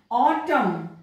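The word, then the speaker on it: autumn: अंत में आए, कॉलम ऑटम ऑटम में भी एम और एन है एन अंत में है तो एन साइलेंट है, डैम एम एन एन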